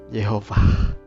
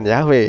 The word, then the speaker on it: Yehovah: Vav He itu akhirnya bisa dibaca menjadi Yahovah atau Yehovah. Jadi bukan Yahweh ya. Nah, sampai sejauh ini saudara tentu paham kalau pada akhirnya pelafalan yang tepat dari huruf mati YHVH itu ditambah dengan nikutnya itu bisa dibaca dengan sebutan Yehovah. Tapi tidak lantas bahwa saya